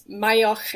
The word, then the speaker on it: Maigheach: But I am a Gaelic word, so it's Mayach, and it will be in the show notes, I'm sure.